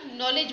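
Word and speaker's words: knowledge: के पासून सुरुवात होते परंतु याला आपण नॉलेज म्हणतो म्हणजेच के चा उच्चार इथे होत नाही म्हणून याच्यामधलं या प्रश्नाचं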